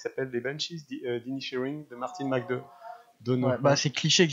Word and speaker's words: McDonagh: Ouais, c'est Martin McDonagh. Je parle pas anglais, donc. McDormand, c'est comme ça. Non, McDonagh.